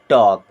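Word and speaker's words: talk: होता है बातचीत करना यहां पर एल साइलेंट होता है ठीक है एल के बाद जब के आता है और एम आता है तो हमेशा एल साइलेंट रहता है देन ही हैड टू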